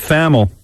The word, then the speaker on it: Thamel: Now, Pete Thamel, Thamel, I think that's how you say it, Pete Thamel. Not Pete Hamill, Thamel.